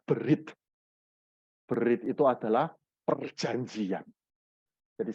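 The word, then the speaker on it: בְּרִית: Nah, huruf Ibrani yang ada di bawah itu, kita membacanya berit.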